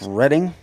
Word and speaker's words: Reading: but it's Reading. Okay. Yeah. So we have a town The here in Reading South Railroad?